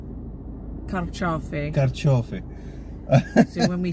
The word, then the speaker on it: carciofi: Because in Italian it's carciofi.